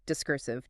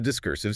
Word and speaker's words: discursive: And the opposite of being focused when you speak, discursive.